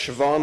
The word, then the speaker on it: Siobhan: it's a it's pronounced Siobhan it's an Irish name Siobhan Dowd was a terrific